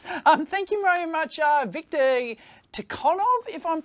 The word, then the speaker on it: ToughOn: Aha, it's pronounced ToughOn.